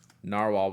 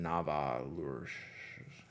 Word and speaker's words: Nahvalur: you all online now they say narwhal but you have to pronounce it Nava I forget the I